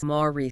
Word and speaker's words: Moreci: The C in Moreci sounds like an S. So it is Moreci, Jenna Moreci.